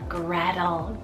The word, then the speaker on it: Gretel: little vintage we have Gretel spell g-r-e-t-e-l Gradle this is guys I